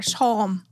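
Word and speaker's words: Psalm: Maður hvað lengi áttum á ég var bara P-S-A-L-M þú fór ég að translita how do you pronounce this og bara Salm ég bara Salm. It's a silent P.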